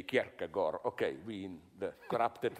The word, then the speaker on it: Kierkegaard: Kierkegaard also was well aware of this, you know. I read in a biography of, how do you pronounce it correctly, Kierkegaard.